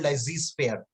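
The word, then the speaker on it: laissez-faire: and pardon me if i'm not able to pronounce that correctly it's a french word it is called lazy sphere so lazy sphere is a french word which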